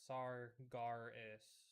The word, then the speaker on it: Sargeras: yeah, he was Sargeras actually pronounced Sargaris.